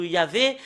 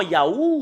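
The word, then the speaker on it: יה: C'est Yah qu'on le prononce dans la langue hébreu. Parce que voilà, le fait de le lire en hébreu, dans la translittération, c'est Hallelujah. Et quand les Hébreux le prononcent en Ya, bah il faut pas le changer avec d'autres choses. Il faut pas le changer en Yahoo ou d'autres choses. Mais si c'est Ya, c'est Ya.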